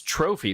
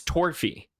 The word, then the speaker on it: Torphy: his name is oh I was gonna say his name is trophy but it's not it's torphy it's twerpy and strong cousins or